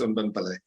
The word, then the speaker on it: Unben Pillay: The pronunciation is perfect. It's Unben Pillay.